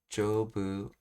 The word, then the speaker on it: 丈夫: So karukute jobu. Oh, it's pronouncing this as jobu.